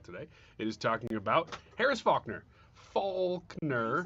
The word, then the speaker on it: Harris Faulkner: it is talking about Harris Faulkner. You said it right the first time? No, I'm correcting myself because there is an L in that name.